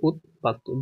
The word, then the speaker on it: উদ্বাস্তু: শব্দের অর্থ কি রিফুজ উদ্বাস্তু এটাকে বলা হয় শরণার্থীও বলা হয় ঠিক আছে উচ্চারণ হচ্ছে উৎবাস্তু জাস্টিস ন্যায়বিচার এটা পারবা